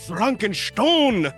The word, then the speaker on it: Frankenstein: our friend Von Frankenstein I'm going to see how many different times I can pronounce that during this episode how many different ways yeah it's it's Franken Stone thank you so much